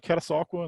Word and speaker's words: Catasauqua: Is that Catasauqua? Am I pronouncing that right? Correct. Yeah. Absolutely. Yeah, tell me about Catasauqua and the basketball tradition you came out of there.